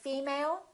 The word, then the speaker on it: female: Did you say female or did you say female? Once again, it's the first one.